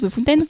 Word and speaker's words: The Fountain: C'est comme ça qu'on prononce The Fountain.